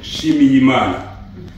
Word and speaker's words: Nshimiyimana: je voudrais commencer par la la pron la prononciation de mon nom qui est compliqué difficile à retenir je m'appelle shimimanaana ça signifie rendre grâce à Dieu voilà je